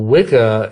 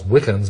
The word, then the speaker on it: Wicca: Well, Wicca, it's actually it's pronounced witcher, really. It's the old Anglo-Saxon word that means bent or twisted originally, but it's the origin of our word witch.